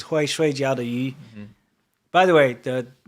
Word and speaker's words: 鱼: By the way, saying fish in Chinese is very difficult. Yu. Yeah, yu. It's yu, but it's. But the way you pronounce it is, yu. It's in the back of your throat.